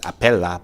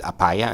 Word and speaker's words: Apaya: People will pronounce his name as Apella, but his actual pronunciation is Apaya, and it took me a while, correct, to actually learn it.